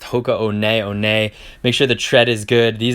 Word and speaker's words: Hoka One One: thrifts and flips we used to call these Hoka one ones but it's actually pronounced ho co-owned aione make sure the tread is good these are